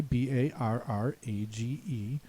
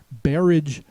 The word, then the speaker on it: barrage: I'm going to say the first one here is barrage, and it's unlikely that that's the pronunciation the pronouncer will give you. Barrage refers to anything that's a barrier inside of a river that bars the water from flowing normally, like a dam. It's more likely that the pronouncer is going to say barrage.